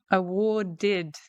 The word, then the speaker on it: awarded: Awarded, awarded, awarded, because it ends in a D, and then we put that extra syllable on there.